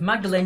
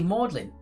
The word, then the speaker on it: Magdalene: when it was uh i thought it was magdalene university but it's actually modelling ridiculous why is english